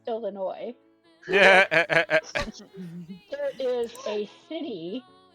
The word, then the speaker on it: Illinois: so out in this little state called Illinois, Yeah. there is a city called Cairo that is pronounced that's spelled Cairo, Mm-hmm.